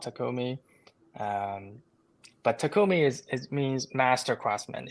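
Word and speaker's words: 匠: so then um in Japanese it's called It's pronounced takumi and there are some brand that's called takumi um but takumi is it means Master Craftsman it's you're high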